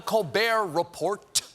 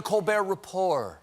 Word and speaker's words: Colbert Report: all it's not the colbert report it's the colbert report okay the t the t is silent like you were during